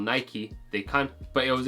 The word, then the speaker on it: Nike: name was Nike so it originates from a Greek word unlike the English words such as bike as well as that